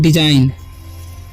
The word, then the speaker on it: design: उसी तरीके से यहाँ पर लिखा हुआ है DESIGN, ठीक है। तो यहाँ पर भी जी साइलेंट है तो इसे पढ़ते हैं हम डिजाइन, इसे पढ़ेंगे हम डिजाइन, ठीक है।